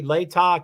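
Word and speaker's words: Latah: Idaho the county later I think I now have figured out how to say it correctly Layton County Idaho and the state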